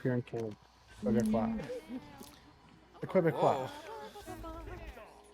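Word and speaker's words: Québécois: The Quebecois. You're hitting the U too hard.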